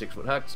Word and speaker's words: 6ftHax: The Durham Drodigons, coached by 6-foot hacks. Spell it, but it is 6-foot hacks, versus the Los Angeles Nidokings, coached by TTM Crobat for the win.